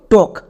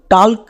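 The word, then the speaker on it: talk: next এল এল এর উচ্চারণ হবে না কারণ এল এখানে সাইলেন্ট এবার চলে আসো একদম শেষে কে কে এর জন্য কো তাহলে এই ওয়ার্ডের উচ্চারণ দাড়ালো টক একে আমরা ভুল করেও টালক বা টলক এরকম উচ্চারণ করবো না তাহলে আমাদের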